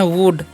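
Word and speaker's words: would: हम लोग पढ़ते हैं वुड यहां पर भी एल साइलेंट होता है तो इसे आपको वुड नहीं पढ़ना है बहुत सारे स्टूडेंट जो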